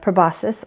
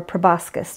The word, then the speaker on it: proboscis: These are the two antennae, and this is the proboscis or proboscis, just depending on how you want to pronounce it. It's correct to pronounce it both ways.